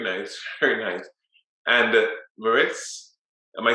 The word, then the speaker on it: Mariz: uh business very nice very nice and uh merits am i saying it correctly i'm not getting your voice you're muted okay you can call me marius okay thank you so much so i'm a